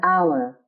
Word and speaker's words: hour: is pronounced as an is used if the noun following it starts with a silent h examples an hour an honest woman an